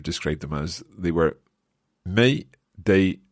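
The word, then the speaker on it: mig: is uh d-i-g exactly and may is m-i-g but we have to um pronounce it as is e-j in the end may so the plural one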